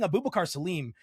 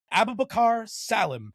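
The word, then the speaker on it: Abubakar Salim: I've been saying Abubakar Salem and I only recently heard him actually say his name and it's apparently pronounced Abubakar Salam.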